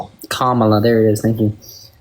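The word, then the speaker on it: Kamala: I don't know how to say Kamla.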